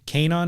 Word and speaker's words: Kaenon: Kanon is spelled Kaenon. It's a .com, and our promo code saves you 15% on your first pair.